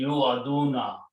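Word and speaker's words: يوعدون: Okay, and when you pronounce this, it will be Yu'aduna, which means they are promised.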